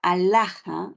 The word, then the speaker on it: alhaja: que hay dos diptongos la palabra alhaja Recuerda que la H la H es muda la H no tiene sonido no le voy a tomar